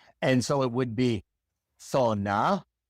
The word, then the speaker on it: zona: Well, in the great majority of the Spanish-speaking world, the Z is pronounced exactly like the S. So for example in words like sona sona zone sona it is not zona that doesn't exist sona d 10 it